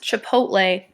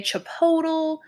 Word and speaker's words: Chipotle: or how you've heard it mispronounced so it's pronounced Chipotle but I've heard people say Chipotle or Chipotle something that my dad says all the time